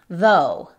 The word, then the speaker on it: though: En este caso es con voz y suena exactamente como nuestra D en español. Though.